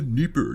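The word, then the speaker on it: Dnieper: yeah I'll take them it's denipper it's the Nipper you idiot duh what even do a podcast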